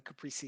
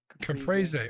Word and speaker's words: caprese: we're moving on the caprici sandwich can praise hey what caprese oh did i say it wrong caprice so crazy uh